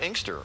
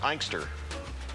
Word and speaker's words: Inkster: off the TV screen of Inkster or as they Jessica would say on our GPS units in our cars ike stir it is funny supposed